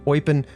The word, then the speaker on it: Eupen: Now, there are several pronunciations of this city. I I see the common one being Eupen. There There's German, Dutch, and French in this country.